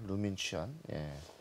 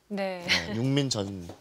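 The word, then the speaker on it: 陆敏全: 루민 취안. 제가 이거 한자를 읽어보니까 이게 뭐 발음을 어떻게 하는지 모르겠는데 우리식으로 읽으면 육민전이에요. 육민전 선수입니다. 선수네요. 근데 중국어로 하면은 루민 취안이라고 정확하게 표기를 해야 되는 것 같습니다.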